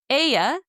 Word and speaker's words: ella: Aya is spelled E L L A just like the name Ella in English.